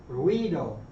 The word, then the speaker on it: ruido: And the ui is going to be more of a we sound. So quid quid ruido rio means noise.